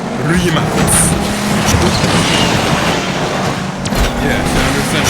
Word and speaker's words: Rimac: It's not Rimac or Rimac, it's Rimac.